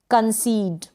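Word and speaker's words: concede: Same rule क्या कह रहा है, ई के बाद एक अक्षर छोड़कर फिर से ई आएगा, तो इस ई का उच्चारण, ये जो पहला वाला ई है, इसका उच्चारण हम लॉन्ग ई यानी बड़ी ई के रूप में करेंगे।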